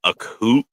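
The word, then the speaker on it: Akhlut: fingers down let's go I can't pronounce the dang name so I'm probably gonna butcher it spell it the AK K HL u t the the accute I am it's pronounced accute accute okay and it's a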